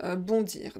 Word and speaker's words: bond: C'est vraiment synonyme, mais voilà, quelquefois on utilise sauter et là on utilise bondir. Donc je fis un bond. Prononcez pas le D final, ne prononcez pas le D final.